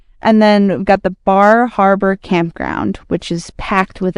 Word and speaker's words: Bar Harbor: If you're in Maine, they're not going to know what you're talking about if you say Bar Harbor. Really? You got to say Bahaba. Bahaba. I love that. That's how they say it.